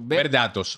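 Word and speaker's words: VerDatos: Sí, porque no es verdad, para que la gente no entienda, no es verdad como se escribe. Exacto. Es verdad, como de datos. Datos, correcto. Ver datos, ok.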